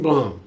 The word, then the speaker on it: Blum: I'm gonna try to make sure I say his name right, cause Jason Blum, yeah, he knows how to make something without spending so much money.